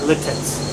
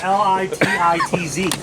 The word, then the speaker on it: Lititz: There's also you hear about Lidditz. Nope. So Lidditz, a lot of people pronounce that Littitz. Seriously. It's French. Lititz. Yeah. So people think it's Littitz instead of Litz.